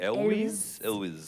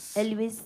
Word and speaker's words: Elwes: Elwes. Elwes.